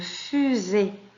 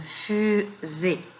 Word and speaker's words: fusée: S entre deux voyelles, elle se prononce Z, une fusée.